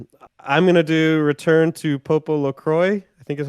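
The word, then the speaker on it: PopoloCrois: gonna do return to Popo Lacroix I think is how it's pronounced a story of Seasons fairy tale uh it is uh purple LaCroix I think it's probably french yeah like croissant uh this is an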